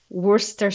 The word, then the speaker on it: Worcester: a common one but Worster sauce is something that for a non-native speaker is just plain wrong you can't write it like that and pronounce it like that you have to get